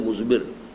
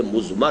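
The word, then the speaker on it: مضمر: ہے وہ مزمر ہے۔ عام طور پر جو ہے اس کو تلفظ ہم کر دیتے ہیں مزمر، اردو دان، لیکن یہ کہ اب آپ تو عربی دان ہو گئے نا، تو اس لیے آپ کو صحیح تلفظ کرنا چاہیے مزمر ہے۔ دوسرے حریت عمل ہے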